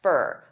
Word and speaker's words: for: Now, many native speakers will combine all 3 of these together and they'll pronounce 4 as more of an unstressed fur.